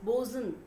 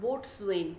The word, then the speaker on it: boatswain: This will be pronounced as bosun, not boatswain.